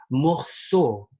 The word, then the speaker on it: morceau: Lalu selanjutnya e plus au dibaca o. Seperti kata au tadi ya teman-teman. O. O tertutup, bukan o terbuka. Langsung aja kita baca. O. Morceau.